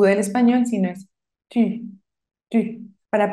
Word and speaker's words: tu: del español sino es tu para pronunciar esta u en francés la u solita haces los labios como si fueras a pronunciar una u pero el sonido que sale es el de una I I I I ti